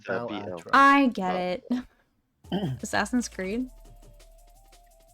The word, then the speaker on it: Balatro: It's Balatro.